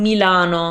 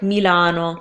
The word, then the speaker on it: Milano: the Mia mallanna Wow in Italian you need to make the sound more clear that is its me it's an eyesore Isan new lon Milano right Milano so it's e ah oh yeah yeah oh those are the vowels you need because your constants are staying the same sub e or try to get on tight vowels and that should do